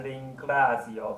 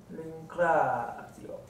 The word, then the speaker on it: ringrazio: Non è giusto.La ringrazio per l'attenzione. 小心那个 zio 的发音，两个母音中间那个 zio 等于说双子音，怎么念？L'attenzione. OK, l'attenzione 没问题，因为是前面有子音 attenzione，对不对？可是前面那个感谢您怎么念？Ringrazio.